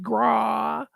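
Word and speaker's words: Grawe: to ban Catherine Graw that's how it's spelled g-r-a-w-e grah Catherine grah also known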